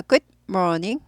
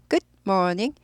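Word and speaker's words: good morning: 전까지는 굿모닝이라고 인사합니다 예 그래서 굿모닝 보다는 굿 하고 여기 스타카토 있는게 더 좋은 발음 모닝 보다는 모이죠 R 있으니까 꼬부 있죠 그래서 굿모닝 굿모닝 굿모닝 굿모닝 굿모닝 모닝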